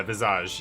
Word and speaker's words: Visage: The S is silent. Yeah, Visage.